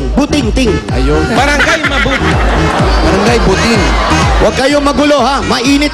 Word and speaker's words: Buting: buting o buting buting buting parang mabuting ina mabuting ama buting mabuting lugar yan parang siting butingting ay Barangay mab Barangay buting Hwag kayong magulo ha